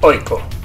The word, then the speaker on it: AIK: de la mano de Aiko Asolna, que por cierto, como veremos enseguida, se pronuncia Oiko.